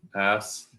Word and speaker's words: asphalt: We pronounce the PH as an F, so but you guys don't. You ignore it completely.